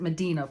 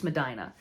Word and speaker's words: Medina: Funky Cold Medina so I know people always mispronounce it Medina because of that song but it's not it's Madina so Medina's awesome check